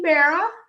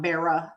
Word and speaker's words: Berra: is the first one hey there it's Yogi Berra Vera not Vera I always said it wrong so this one is the only one from 1964.